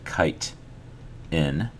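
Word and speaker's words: chitin: material called kiten so it's pronounced kite in but it's spelled like this c i t i n all right so kitan is the material that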